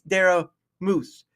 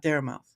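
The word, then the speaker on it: Dara Mouthe: Okay, there's a silent e at the end. All right, you're Oh, everyone out there, it's Dara Moose, not dare mouth.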